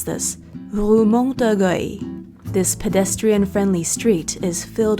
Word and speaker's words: Rue Montorgueil: About a 10-minute walk from the Louvre is, how do you pronounce this? Rue Montorgueil.